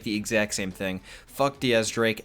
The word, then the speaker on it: X Drake: possibility that x-drake and I know his name is technically pronounced Diaz Drake and and that actually is very important in this video do keep that in mind Diaz as in the Spanish way of saying 10 I'm gonna call them